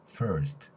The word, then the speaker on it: first: 아니라 바로 이런 글자 형태로 완성이 되는 것이죠 first 이런 발음으로 해요 그래서 여기에 스트럼 긴 모음이 들어가는게